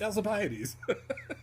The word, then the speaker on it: Alcibiades: In fact, it is known how it's pronounced. It's Alcibiades.